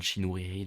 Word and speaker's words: Chinouriri: Mais en tout cas, elle parlait d'amour, l'artiste en question, c'est Rachel Chinouriri, en tout cas, enfin Rachel Chinouriri, du coup, en prononcé en français.